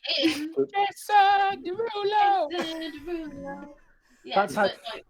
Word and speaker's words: Derulo: Derulo. Yeah, That's how you pronounce his name.